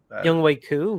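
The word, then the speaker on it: Younghoe Koo: Young Way Young Way Coup.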